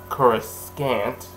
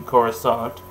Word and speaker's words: Coruscant: to go to coruscant which they said kuroskant yeah this was before the uh like i said this was before the prequels gave the proper pronunciation so it's actually coruscant and they need to